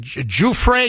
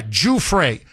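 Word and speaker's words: Giuffre: apparently in an interview, she gives the French pronunciation of her name. So, out of respect for her and her family, um, it's Virginia, uh, is it Juay? Yeah, Juay. Juay.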